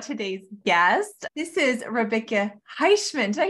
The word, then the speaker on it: Heishmann: This is Rebekah Heishmann.